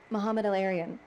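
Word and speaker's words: Mohamed El-Erian: I don't know if I'm pronouncing the name correctly, and you can correct me. Mohammed El-Arian? Mohammed El-Arian.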